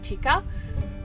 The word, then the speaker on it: Tikka: Well, she's not named after Tikka as in the curry. She's named after a gun brand, which is actually pronounced, I think, Tikka.